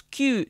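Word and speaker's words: 九: Et le 9 se prononce kyu, ce qui évoque le mot souffrance.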